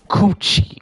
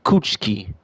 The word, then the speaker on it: Kuchiki: He's saying Rukia's name wrong. Rukia Coochi. Cuchki.